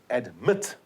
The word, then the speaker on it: admit: the t it's regretted admit the accent is on the second syllable admitted there we are